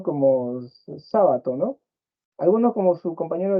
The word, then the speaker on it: Sábato: no o sábato perdón si algunos dicen sabato y ahí parece que dijera jabato no la cría del del jabalí pero es sábato ya sí Está bien este